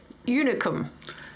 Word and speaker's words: Unicum: what we assumed to be the local tipple, unicum, in its weirdly shaped bottle.